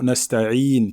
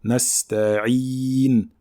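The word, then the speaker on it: نستعين: Donc il faut bien faire une kasra complète, un son I complet. Nasta'in, nasta'in, et non pas nasta'in, d'accord?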